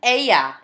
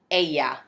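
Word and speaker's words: ella: different and then she she is Aya if you can't see the way that's spelled that's e l l a Aya all right up here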